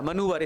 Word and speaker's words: manoeuvre: मनूवर, इसका right pronounce मनूवर होता है।